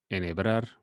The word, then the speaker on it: enhebrar: So as you can see, we do not pronounce the H, we just pronounce the E after each one of the letters. So for instance, coherencia or cohete or enhebrar, that H is not pronounced.